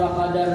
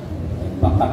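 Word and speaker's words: فَقَدَ: Adalah nabi kita itu idza faqadar rajula, apabila kehilangan akan seseorang. Bila nabi dikehilangan anak buahnya, faqada fakat bacanya faqada.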